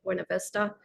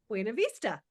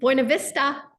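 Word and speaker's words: Buena Vista: 2025 I can't wait Lake buav Vista I know buav Vista oh sorry I'm even saying it wrong that's okay but anyway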